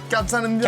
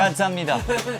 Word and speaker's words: 감사합니다: Kamsahamnida. Kamsahamnida.